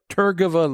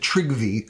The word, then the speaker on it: Trygve: was a guy named Turgeva Lee. They usually pronounce it Trygve. I don't know if that's correct or not. It's Norwegian. Trygve Lie was from Norway.